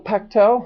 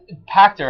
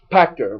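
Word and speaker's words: Pachter: i still own because michael pechtel do you think that's how you say his name for wedbush uh pacter i think pactor right okay it's with an r yes um super smart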